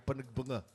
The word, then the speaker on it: Panagbenga: diyan sayang malamig doun Panagbenga pero ang pronunciation sa Baguio ay pagbanga pagbanga pagbanga o Baguio